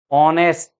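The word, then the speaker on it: honest: This our, this is आवर, H silent है, आवर। ऑनेस्ट, एयर, एयर का मतलब उत्तराधिकारी, ये एयर अलग है।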